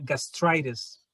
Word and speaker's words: gastritis: It is the same form as in Spanish. Se escribe igual, pero se pronuncia gastritis. That's interesting. Okay, gastritis se pronuncia gastritis. Y tiene la misma escritura.